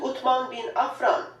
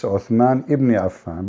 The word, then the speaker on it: Uthman ibn Affan: As you can see, title states Al-Musaf Al-Sharif, attribute to Uthman bin Affan, the copy of Al-Masar Al-Husseini in Cairo. So Yeah. Cairo You know, she said the name wrong. It's Uthman ibn Affan, but it's okay.